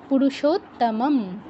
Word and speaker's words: পুরুষোত্তম: পড়ছিলাম যেমে পুরুষোত্তম পুরুষ দুটো ম পাশাপাশি একটা ম স্কিপ করে গেলে কিন্তু চলবে না ইচ্ছে করে আমরা কেউ